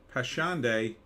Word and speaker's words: Passchendaele: Passchendaele, good pronunciation.